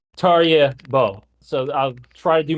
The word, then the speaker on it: Tarjei Bø: And I'm using like the English like pronunciation. Like I looked into it because I know that Norwegian pronunciations can be very difficult for English speakers. So it's not the true way that Tarjei would pronounce his own name in Norwegian. But when doing an English interview, it's Tarjei Bø.